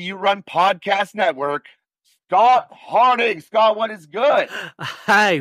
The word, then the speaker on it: Harding: But now my question is it Harding or is it Arding? Harding, with a H.